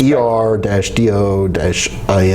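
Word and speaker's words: Erdoğan: That's how it's pronounced. ER-DO-IN is a phonetic pronunciation.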